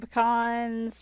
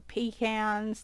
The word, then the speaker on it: pecan: delivering my flowers and pecans or pecans depending on how you say it um and I come